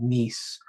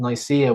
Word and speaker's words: Nicaea: So around 35 minutes in, you will hear him say the Council of Nice. And I went and checked the book. It actually says that's what it says. But I believe that that's a misprint in the book, because I think it's the Council of Nicaea, which happened at 325 AD.